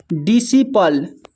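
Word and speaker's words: disciple: फिर नेक्स्ट है डिसिपल, डिसिपल। Seizures, यहाँ पर भी सी साइलेंट है, सीजर्स।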